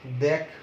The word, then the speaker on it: দেখ: যেমন তুই বা তোরার সাথে যদি বলো কি দেখ, তুই দেখ, এখানে এ ধ্বনির উচ্চারণটা বিবৃত হবে, দেখ উচ্চারণটা হবে এরকম, দেখ।